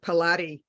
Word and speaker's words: Pilate: So in the beginning, I was mispronouncing. I was giving it a Spanish pronunciation as when I was doing Pilates, and I couldn't figure it out, but I got it.